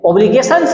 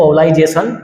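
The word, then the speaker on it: obligations: अब नेक्स्ट वाली हेडिंग है ऑब्लिगेशंस ड्यूटी। देखिए यहाँ पर इसको ध्यान से पढ़ लेना, ऑब्लिगेशंस पढ़ते हैं इसको, कोई लोग पढ़ते हैं इसको ओब्लाइजेशन, बट वो गलत होता है इसका प्रोनाउंसिएशन।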